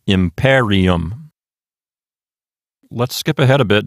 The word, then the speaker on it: imperium: Therefore, the accent will jump over to the left one notch to the antepenult. That's the PE. Syllable. So this word will sound like imperium.